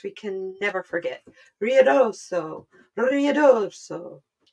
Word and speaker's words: Ruidoso: Ruidoso. Sounds like you're saying rear dorso, and that's how it's spelled.